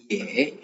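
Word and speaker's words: 也: ஏ, ஏ, ஏ, ஒய்இ வரும்போது நம்ம ஏ அப்படின்னு ப்ரொனவுன்ஸ் பண்ணுவோம்.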